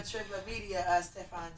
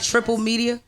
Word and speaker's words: Triplet Media: Triplet Media, Stefan J. Yeah, Triplet You said Media. I want to say it right. You said Triple Media.